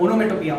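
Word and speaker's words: onomatopoeia: है जिसका नाम है ओनोमोटो ओनोमेटोपिया स्पेलिंग अजीब ही है मगर ओनोमेटोपिया ओनोमेटोपिया सर मेरे को मेरा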